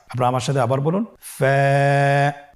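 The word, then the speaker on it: ف: ফা হরফটি উচ্চারণের ক্ষেত্রে বারিক হবে এবং এক আলিফ টেনে পড়তে হবে।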